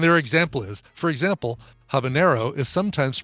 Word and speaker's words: habanero: does have an Ena habanero does not so it's habanero jalapeno well I like